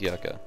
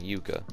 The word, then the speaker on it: yucca: plants right here yes you do pronounce that as yucca it's not yuca and this one gives